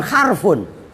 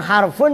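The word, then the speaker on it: حرف: Lah orang kan kadang-kadang harfun juga dibacanya adalah huruf lah. Padahal harf ya harf sebenarnya kan begitu.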